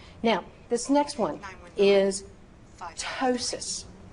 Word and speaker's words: ptosis: Now, this next one is ptosis. Ptosis. So ptosis means drooping or sagging. Now notice that I did not say the P at the beginning of this word.